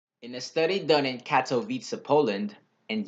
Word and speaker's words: Katowice: a study done in Katowice Poland and yes is pronounced cat o visa eight mail off-road cyclists